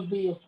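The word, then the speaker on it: Beall: I want to say her name right cuz it's spelled b e a l l so I thought originally was B but I maybe beill is that right yeah it's co beill co beill okay so um because the very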